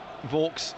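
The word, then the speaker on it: Vaulks: of the second half vs will vogs gone down to take it I say vs I think everyone assumes it's vs as in the brewery but it's not it's spelled v u l KS well we could do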